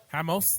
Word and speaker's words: Ramos: Rio de Janeiro Brazil also known as Hamas highmost that's right because ours are pronounced as H's in Portuguese what you guys who